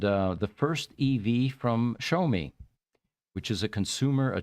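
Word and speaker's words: Xiaomi: he's driving is the show me su7 by the way that is spelled x i a m i but it's pronounced show me even though there's no sh in there which is often times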